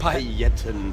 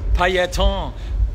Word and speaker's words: пайетки: И сколько времени ушло на то, чтобы пришить к куртке палетки? Ты пришивал каждую палетку по отдельности или это что-то вроде… шаблона? Стоп. Стоп. Прекрати неправильно произносить французское слово. «Пайетки». Пайетки.